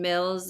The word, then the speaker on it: Mills: my name is Mills it rhymes with bills you know the one the dollar dollar bills I'm a financial educator